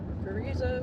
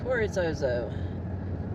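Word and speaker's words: Carrizozo: Is it Carrizo or Corizozo? Oh, it is Zozo. Corizozo. Oh, I've been saying it wrong all along. Corizozo.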